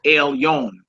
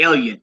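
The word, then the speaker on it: Elyon: like uh like uh when you say most high in Hebrew it's Elon like they they play on it today and say Ellen Ellen y you know what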